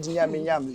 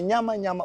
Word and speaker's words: nyama nyama: The word nyami nyami should be nyama nyama or cheka wa cheka. And the white people again, they couldn't pronounce and call it nyami nyami.